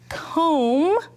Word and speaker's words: comb: Knee, comb, don't say the last letter, remember that B is that silent letter.